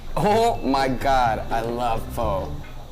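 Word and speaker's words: phở: Oh my god, I love pho. It's pronounced pho, and yeah, it's delicious.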